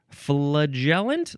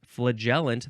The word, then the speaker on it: flagellant: It's flagellant. How do you say this? Flagellant, that's one of the ways. Or you can say flagellant.